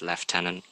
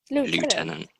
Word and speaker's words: Lieutenant: it if you could pronounce our stolen French word in the way we British like to say it the 2 the 21th the 21st under the name say it again left tenant leftenant Colonel Neville Heath although